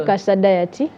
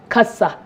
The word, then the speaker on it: Kasa Diet: Okay, erinnya lyange nze Kasa Diet. Kasa.